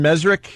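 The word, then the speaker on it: Mezrich: We had our friend Ben Mesrick.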